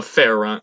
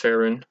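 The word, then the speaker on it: Faerûn: Coast or bow a fair run fit Ferran Ferran Ferran thanks pronounced Ferran and so I was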